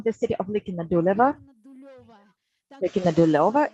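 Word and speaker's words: Ликино-Дулёво: Likina Duleva is the correct pronunciation, such a beautiful name.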